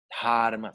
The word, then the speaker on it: dharma: Dharma, se pronuncia dharma. La H en sánscrito es sonora, no es como en español, que no suena, ¿verdad? Y no es como en inglés, que en inglés suena la H, ¿verdad?